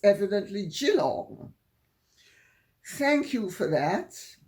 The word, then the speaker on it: Geelong: me that I was right to put the Geelong school timber tops in Australia, but I was wrong to pronounce it Geelong because it's evidently Geelong.